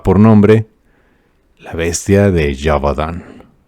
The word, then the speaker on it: Gévaudan: nombre la bestia de jabadán y se escribe geovan Pero se escucha bien perro llamado la bestia